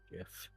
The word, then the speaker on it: gith: have to suppress the urge to say it's pronounced gith it's okay oh my God what you gonna